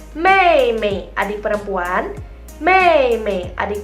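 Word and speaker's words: 妹妹: Kalau adik perempuan berarti bacanya mei mei, adik perempuan.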